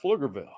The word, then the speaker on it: Pflugerville: it's number two flower spelled with a silent P like flugerville flower SHOP bakery not